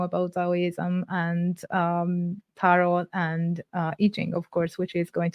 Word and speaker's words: Yi Jing: It is I Ching, but I say I Ching cuz when I speak English, I notice if I say I Ching, I lose some people.